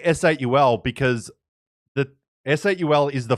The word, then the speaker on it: S8UL: So they're like, "It's okay if they say S8 or Soul, but we want them to say SUL."